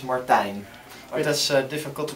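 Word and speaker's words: Martijn: name uh well the the English version would be Martin Martin but the Dutch version is Martine that's difficult to pronounce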